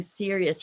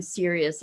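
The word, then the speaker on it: cereus: plant if you've never seen a night blooming serious here she is hey maggie say hi say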